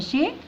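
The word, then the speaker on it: shake: الاس مع الاتش تنطق ايه ها ش، وندخل على الايه شي، ندخل على الكي شيك، الاي الاخيره لا تنطق تبقى شيك.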